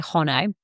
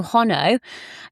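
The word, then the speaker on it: Honno: I'm pronouncing this right it's spelled h n n o so I'm going to say hono so hono is a Welsh women's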